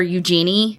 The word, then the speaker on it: Eugenie: But yes, Eugenie is spelled Eugenia or Eugenie. That's really what it is, Eugenie.